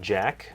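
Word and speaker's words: Jacq: I will play Jack. Is that how you pronounce that? Jack? I think it is Jack, yeah.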